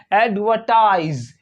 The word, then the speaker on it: advertise: ऐड हुआ एड व और यहां पे जो टी आई जो फाइनल सिलेबल होता है टी आई एस ई तो इसको पढ़ते हैं इसको पढ़ते हैं टाइज क्या पढ़ते हैं टाइज ये जो एस होता है इस एस को जड जड पढ़ते हैं तो ये ये वर्ड पढ़ा जाएगा एडवर्टाइज एडवर्टाइज एडवर्टाइज एडवर्टाइज एडवर्टाइज